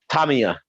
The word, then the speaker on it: Tamiya: Because he's saying the Japanese go Tamiya. That's how they say it.